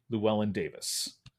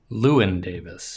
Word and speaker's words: Llewyn Davis: From 2013, Inside Llewellyn Davis. Lewin Davis.